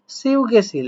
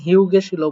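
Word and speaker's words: 휴게실: থাকে, তা খেয়াল করেন শুধুমাত্র ইউ শব্দটা থাকলে এটা হিউ না হয়ে, এটার উচ্চারণ তো সাধারণত হিউ হওয়ার কথা, এটা হিউ না হয়ে হবে হচ্ছে সিউ, সিউ।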